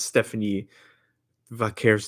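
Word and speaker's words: Stephanie Vaquer: She's She's from Chile, so her name her name is Stephanie Vaker. Yeah. And if you don't want to put the Spanish inflection on it, it's Stephanie Vaker.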